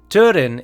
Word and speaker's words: Túrin: Túrin is pronounced as though it were written T-O-O, and not pronounced as the Italian city of Turin.